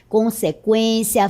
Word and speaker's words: consequência: E agora todas essas palavras são escritas desta forma, sem o trema, 50, linguística, consequência, frequência, tranquilo. Note que a pronúncia continua sendo a mesma com o u.